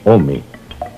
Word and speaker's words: ome: El numeral del año es 2, que se pronuncia Ome.